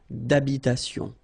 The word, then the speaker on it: d'habitation: Remember, H doesn't exist in French, well, in most of the cases, so it does mean that you don't pronounce it, all right? So, d'habitation.